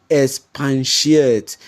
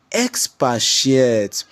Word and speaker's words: expatiate: also other areas like you hear students often say expans shate sir please can you expans shate there is no word like expans that word is expatiate expatiate and again students